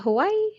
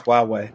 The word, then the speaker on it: Huawei: pronounce them right ho is it hawaii hawaii huawei huawei yeah it's huawei i only know it